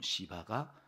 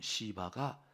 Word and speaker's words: 시바: 비보의 종 시바가 와서 시바도 기억나시죠 발음 잘해야 된다 그랬어요 조금 세게 발음하면 이게 욕같이 들려가지고 그 종 시바가 여기 이렇게 어 피난가는